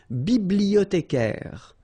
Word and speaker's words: bibliothécaire: Then un bibliothécaire. Bibliothé. Remember in French the H doesn't exist, so you don't pronounce it.